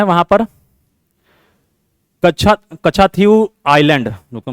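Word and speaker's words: Katchatheevu: अब एक और प्रॉब्लम है वहां पर, कच्छा कच्छाथीव आइलैंड, रुको मैं लिख देता हूं इसको, कच्छा स्पेलिंग एक बार चेक कर लेना, कच्छाथीव, TH है ये, THEEVU, ठीक है।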